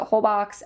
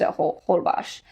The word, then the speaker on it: Holbox: b o x so you might pronounce it hbox everyone pronounce hold bash so I was like oh I'll go there